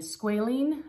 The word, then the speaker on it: squalene: it it's got the japanese lemon balm and squalene that's how it's pronounced 80 and it just locks in moisture